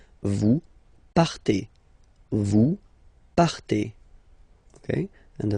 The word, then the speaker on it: partez: Okay, then for vous, classic ending for vous as well, EZ, but then you pronounce it et, vous partez, vous partez.